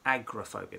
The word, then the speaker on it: agoraphobia: It looks like it's written agoraphobia, but it's agoraphobia. That's how we pronounce it.